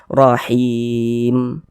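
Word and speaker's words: رَّحِيمٍ: Huruf mim ini, jika kita berhenti pada huruf mim, kita membaca rahim. Nah, jika Anda berhenti pada huruf mim, jangan membacanya sebagai rahimin. Jangan salah paham.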